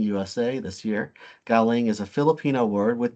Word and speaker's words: galing: umbrella branding campaign called galing USA this year galing is a Filipino word with two meanings depending on how it is pronounced if the intonation is on the first syllable GA that means from if it the emphasis